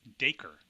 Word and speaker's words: Dacre: Oh, and I found out it's Dacre Castle. Rhymes with Baker. The people who actually live there call it Dacre.